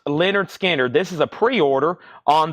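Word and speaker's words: Lynyrd Skynyrd: is a new pre-order Leonard skinnard this is pronounced Leonard skinnard this is a pre-order on this puzzle now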